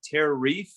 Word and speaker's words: TerraReef: Also, in my studies and my world travels, after a lot of contemplation, I realized that TerraReef, guess what? What? It rhymes with beef.